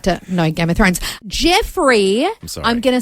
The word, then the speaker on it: Jeofrey: It's spelt Jeofrey, probably pronounced Jeffrey, but I want to say Joffrey, but it's not.